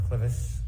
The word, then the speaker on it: clivus: Were you a presenter in fractures of the clivus, clinical and radiographic features? Yes. Am I pronouncing that correctly?